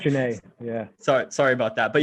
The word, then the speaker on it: Genet: It's weird the way it's spelled. Yeah, it's Genet.